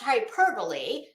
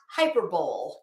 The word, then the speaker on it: hyperbole: of hyperbole Betty um it is pronounced hyperbole not hyperbole sorry what what is